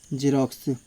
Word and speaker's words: Xerox: पहला रूल है, यदि किसी वर्ड के स्टार्टिंग में एक्स आए तो ओ ज का उच्चारण होता है।